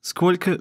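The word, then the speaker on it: сколько: much or how many skolka becomes ska and since the last o sounds like a anyway we spell it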